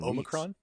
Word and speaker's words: omicron: been to the movies oh micron oh micron omicron i've i've been with um british people for the last week like most of my days i've been with people and that's how they say it jolly good yeah i